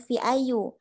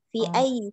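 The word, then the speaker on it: في أيّ: Jadi bukan fi ayu. Kalau ayu dibacanya di awal. Karena di depannya ada fi, jadi bacanya fi ayyi syari'in baitukum. Nah, seperti yang ini kayaknya ada fi.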